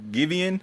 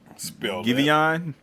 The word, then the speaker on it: Giveon: I think his name is pronounced Giveon or Giveon. Like give and then O-N.